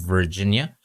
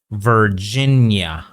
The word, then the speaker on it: Virginia: or in this word, Virginia. Okay, not Virginia. Okay, don't end it too much. Make the sound a little bit longer.